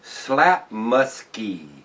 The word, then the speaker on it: Slaapmutske: 5.30 ABV and I'm going to try to pronounce this is slap musky s l a a p m u t